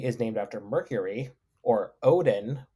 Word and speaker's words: Odin: named after Mercury or Odin pronounced woden so Wednesday would Walden